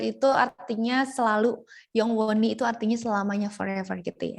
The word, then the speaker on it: 영원히: Yongwoni, betul. H-nya sedikit ya dibacanya.